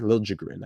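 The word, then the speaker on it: Liljegren: that right side in Timothy lilin Lil jrin actually how wants to be pronounced now so on the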